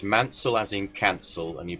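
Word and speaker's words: Maunsell: So the so the easy way to remember it is as bullied himself said you pronounce manel as in cancel and you pronounce bullied as in succeed right.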